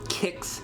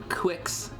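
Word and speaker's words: Qix: Mike, did you know it was pronounced kicks and not quicks?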